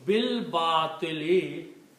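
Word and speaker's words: بِالْبَاطِلِ: We are combining ba with the lam. Bil, which means alif is not being read anymore. So when you don't read the alif, you put a little swat sign on it saying that don't read this alif.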